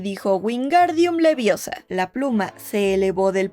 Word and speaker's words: Wingardium Leviosa: ¡Wingardium Leviosa! Y Hermione lo regaña. Lo estás diciendo mal. Es Wingardium Leviosa. Pronuncia Gar, más claro y más largo.